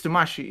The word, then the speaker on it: Doomashi: Dumashi, is that right? Yeah, I think it's Tomashi. It's like the name comes from Doctor Doom with Miyamoto Musashi, which is from Vagabond.